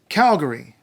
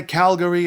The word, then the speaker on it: Calgary: in BAFF National Park Alberta's biggest city is Calgary you can say Calgary if you want but don't say Calgary its Calgary and Calgary was named after a